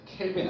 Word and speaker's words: 켈빈: 그래서 절대 온도는 K라고 쓰는데 K라고 읽으면 안 되고 뭐라고 읽어야 돼? 켈빈이라고 읽어야 된다. 켈빈 알겠지?